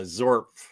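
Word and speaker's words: Xorf: Is that really how you pronounce the X? With a Z, yeah, Zorf.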